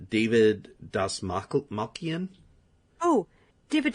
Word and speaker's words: Dastmalchian: David Dastmalchian. Oh, David Dastmalchian.